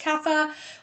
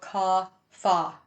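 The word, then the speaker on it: kapha: So right now according to yoga philosophy we are in the coffa season. Sometimes pronounced kafa whatever you like. Usually in yoga a sounds are an a kind of sound. So cafa yoga.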